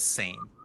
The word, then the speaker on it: SAME: And that acronym is, we pronounce that as SAME.